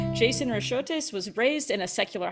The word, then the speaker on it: Racheotes: My name's Jason Racheotes. I do appreciate Kara's attempt at the kind of more Greek pronunciation, but my Blast, name and I practiced. is happily Americanized.